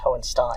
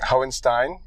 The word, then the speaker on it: Hohenstein: My name is pronounced Hohenstein. Hohenstein.